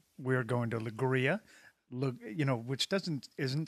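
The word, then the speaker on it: Leiria: go all right right we are going to lria you know which doesn't isn't spelled at all like lria it's spelled more like L right just south of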